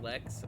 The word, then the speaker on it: Lex: did you know that lex rhymes with sex i didn't know that